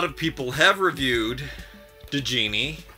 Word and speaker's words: Djinni: people have reviewed the genie i hear that the d is silent but i'm still going to call her degenie and oh her box